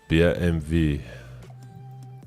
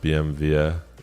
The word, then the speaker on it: BMW: BMV. Believe it or not, that's the right way to pronounce it in German. BMV. It's not BMV, it is BMV.